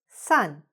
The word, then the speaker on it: son: Not too many, but you have some where the letters "on" at the end start to sound like "un", like "un"; not "on", but "un". For example: "son". This word "son", like son and daughter, sounds exactly like the word "sun" - the sun, the